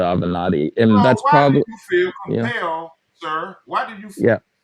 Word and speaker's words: Avenatti: how they all pronounce we all pronounce it evanetti we never pronounced the avenatti and that's probably yeah